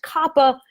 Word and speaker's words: COPPA: DC last week that it is definitely pronounced Coppa by the people at the FTC we like to say Coppa because then we can